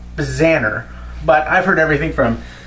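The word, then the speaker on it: Bznar: n a r try to pronounce it it's pronounced Baner but I've heard everything from bezer to beaser to how the you even come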